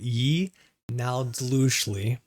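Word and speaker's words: yee naaldlooshii: or yei Nai yei that's a very weirdly written word but that is how you say it ye nowly and I [ __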